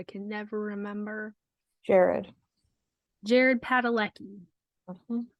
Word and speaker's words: Padalecki: Jared Padalecki. Mhm. I'm sure I'm saying his last name wrong, but that's how I read it. I'm sure it's right.